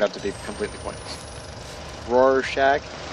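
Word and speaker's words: Rorschach: to be completely pointless Roar Shack like Roar and Shack thanks well I'm not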